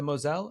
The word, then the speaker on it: Mosel: it Moselle, but I believe that the Europeans, I've heard my German employers at one time call it the Mosel. The The Mosel. Mosel. Okay. But Mosel.